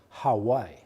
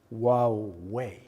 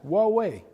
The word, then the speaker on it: Huawei: How to pronounce the name of our company properly? Some people call us Hawaii. This is lovely, but that's kind of an island. We are pronounced Huawei. As easy as that, Huawei, okay?